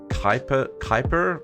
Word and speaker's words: Kuiper: It's in the Kuiper is apparently how I'm meant to pronounce that. Kuiper belt.